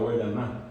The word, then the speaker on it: Guayaná: de un país que es guayana para nosotros bien pronunciado guayaná.